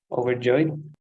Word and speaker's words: overjoyed: to finish number five it's three syllables with the stress at the end overjoyed it is correct overjoyed